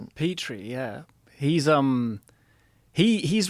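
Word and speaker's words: Petrie: Petri.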